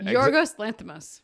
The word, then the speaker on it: Yorgos Lanthimos: And Yorgos Lanthimos.